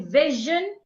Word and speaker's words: vision: It is not every time that Sio N sounds shun like in mission. Sometimes S I N makes a different sound. It sound like we have in vision and excursion.